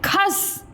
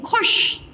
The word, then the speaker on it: खुश: खस, तो पीछे शब्द अभी आप क्या आपने पढ़ा था, खुश, खूस नहीं, खुश, ख में छोटा ओ की मात्रा, खू और श, खुश।